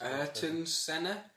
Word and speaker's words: Ayrton Senna: What's Ayrton Senna? Oh! Ayrton shit. Senna? Ayrton Senna. Ayrton Senna. You said it right first time.